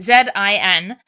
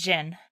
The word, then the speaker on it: Zin: If you are confused about the Jin name because you have Zane, Jin is spelled I'm Canadian, Z-I-N, so it looks like Zin, but it's Jin.